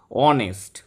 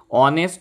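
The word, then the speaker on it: honest: বড় বড় বিল্ডিং আছে সবগুলোর আগে দা বসে অনেস্ট এই যে এইচ নিচের উচ্চারণ যখন অ বা আ তখন তার আগে কিন্তু এন বসে হ না হয়ে যদি অ হয় যদি হরস হতো এ হরস হতো অনেস্ট অ উচ্চারণ হচ্ছে তাই জন্য অনেস্ট অনারেবল আওয়ার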